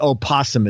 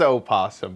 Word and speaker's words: opossum: And then just the opossum is there. Opossum. Oh, that is funny. It is opossum, but the it is silent. Opossum, right?